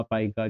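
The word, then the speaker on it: pica: है, पीका कहलाती है, पीका पाइका जो भी प्रोनाउंसिएशन आप करते हो।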